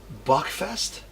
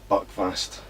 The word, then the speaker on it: Buckfast: Buckfest? Buckfast.